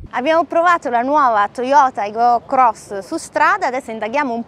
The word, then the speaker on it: Aygo X: conoscenza della nuova Toyota Aygo Cross, la compatta cittadina che punta anche alle flotte. Si scrive Aygo X, si chiama Toyota Aygo Cross, l'ultima arrivata nella gamma delle compatte della casa giapponese.